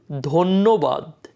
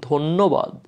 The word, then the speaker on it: ধন্যবাদ: বা ধর জন্য কোনো চেঞ্জ হবে না, ধন্য, ধন্যবাদ এমন উচ্চারণ হবে, ধন্যবাদ।